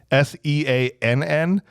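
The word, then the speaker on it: Seann: William Scott which apparently his first name is spelled with two ends s-e-a-n-n it's Sean because I think it's just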